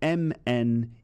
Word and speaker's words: mnemonic: slightly slightly weird spelling it's spelled m-n-e-m-o-n-i-c but the first m is silent so it's actually pronounced